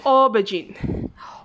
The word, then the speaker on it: aubergine: number two aubergine okay how i pronounce our class aubergine o or although it's a you typically pronounce o okay this one this